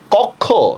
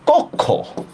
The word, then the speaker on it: কক্ষ: হয়ে যাবে ঠিক না যেমন দেখেন এইটার উচ্চারণ কি কক্ষ না এটার উচ্চারণ হচ্ছে কক্ষ কক্ষ বুঝতে পারছেন অধ্বনির পরে